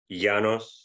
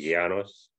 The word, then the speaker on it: Yanos: Yanos. Yanos? Yeah, the Y is like a R sound. It's like a soft G, R, so it'd be Yanos.